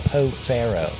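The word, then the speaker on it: Pau Ferro: It's called Poe Faro. Yeah. It always throws me off when I see the word because it's spelled weird. Yeah. For how you have to pronounce it.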